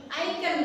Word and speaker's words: ikon: Icon, bacanya icon, tulisannya ikon tapi icon.